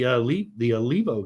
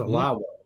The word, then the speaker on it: Alavo: I don't want to take too much credit, but we actually started with the Alivo guys, or Alvo. It's pronounced Alavo. We called him Alivo for 6 months or whatever, but we were number one.